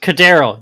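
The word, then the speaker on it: KhaDarel: of the game with Cardero. Oh my God, how do I pronounce his first name? Hodge. Kadero, I think. Cardero, that's what it is.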